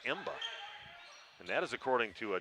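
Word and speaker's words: Mbah: from this area but m-b-a-h is his name is emba and that is according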